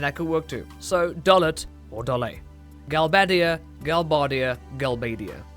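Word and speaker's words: Dollet: Dolet or Dole. Some creative liberty was taken here when localizing because the Japanese just reads Doru, which could be either Dol or Dor. Neither of which sound great as a town name, so they added an ET on the end, and so Dolet would be the most correct.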